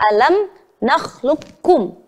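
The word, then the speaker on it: أَلَمْ نَخْلُقكُّم: Pada qaf sukun bertemu kaf pada bacaan alam nakhluqkum. Maka cara membacanya adalah kita harus meleburkan huruf pertama kepada huruf kedua. Huruf qaf kita leburkan kepada huruf kaf.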